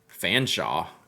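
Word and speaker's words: Featherstonehaugh: Fanshawe.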